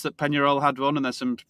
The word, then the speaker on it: Peñarol: Peñarol, is that how you pronounce it? That's it.